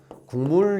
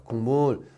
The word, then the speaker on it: 국물: 이거 발음할 때 어떻게 발음합니까, 여러분? 국물 이렇게 발음합니다. 국물. 즉 기억이 미음의 영향으로 기억이 이음으로 바뀌죠.